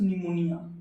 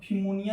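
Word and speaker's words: pneumonia: अब इसको फिमोनिया नहीं पढ़ना है, अब एग्जाम में आएगा तो फिमोनिया बीमारियाँ नहीं पढ़ा है, नहीं, गेट साइलेंट होता है, निमोनिया होता है।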